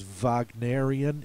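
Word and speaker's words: Wagnerian: I think striking colors this one is vagian it refers to the most famous German opera composer Richard Vagner so anything that sounds like it could be done by Richard Vagner they call it vagian this is the word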